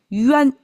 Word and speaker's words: 冤: So, that's yuan.